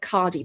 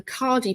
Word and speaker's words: Khadi: My other favorite papers are, I like Cardi Paper. That's spelled Khadi, Cardi Paper.